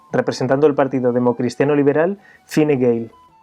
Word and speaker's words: Fine Gael: el partido democristiano liberal Fine Gael. El porqué de esta pronunciación tan curiosa se debe a que en Irlanda existen dos idiomas oficiales, el inglés y el irlandés o gaélico.